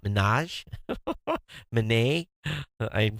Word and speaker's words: Minaj: so Bravo to Nicki mazaa and I pronounce her name wrong Millennials help me out Minaj ha ha man eh